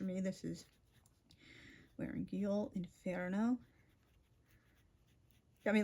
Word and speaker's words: inferno: going to say, "Oh, don't say inferno. It's inferno." Like I understand most people aren't like going to like use the authentic Italian pronunciation, but like if you're like just Yeah. curious. Yeah. inferno is how you say it in Dante's original Italian and the name of the book.